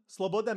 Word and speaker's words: Slobodan: around on uh Milo what how do you pronounce it Slobodan Slobodan means freedom okay what just his last name